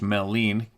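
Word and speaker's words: Maligne: fairies little people there is mythology of melan pronounced melen Canyon in Jasper National Park being the location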